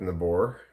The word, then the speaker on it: Nabor: Oh, it's pronounced Nabor. It's not pronounced neighbor.